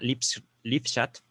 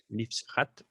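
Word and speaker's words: Lippschaft: hermana contesta la palabra lipschat, Lipschat, Lipschat, la estoy latinizando, ¿vale? Estoy pronunciándola como se pronunciaría digamos, en la concepción latina de la lengua. No estoy pronunciándola como un alemán la podría pronunciar.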